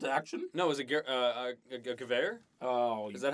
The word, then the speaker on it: Gewehr: No, it was a Gewehr? Oh, Is that how you pronounce it? yeah, Gewehr Yeah.